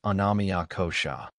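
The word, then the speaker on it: annamaya kosha: The outer layer is called anamaya kosha pronounced anamia kosha which means the physical body sustained by food.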